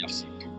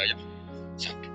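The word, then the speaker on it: يحسب: Karena dalam qiraat asab ada yang baca yahsibu. Qiraat kita baca yahsabu. Tapi guru-guru kita kalau ngajar fikih bacanya yahsibu. Tapi kalau baca Quran yahsabu. Ya kan Quran kita kan ayahsabu alla yaqdiru alaihi ahad, bukan dibaca yahsibu.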